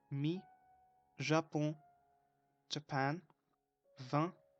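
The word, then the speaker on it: vingt: called, me, Japon, Japan, 20, and we don't pronounce neither G nor T, 20 means 20, 12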